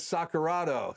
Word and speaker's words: Sacarato: So the right pronunciation of Jenna's name is Sacarato.